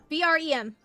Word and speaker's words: Brem: B-R-E-M.